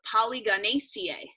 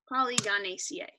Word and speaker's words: Polygonaceae: The family is called Polygonaceae. So that's spelled P-O-L-Y-G-O-N-A-C-A-E. I'm gonna put it in the chat so you can see it, because that probably just confused you all. Polygonaceae.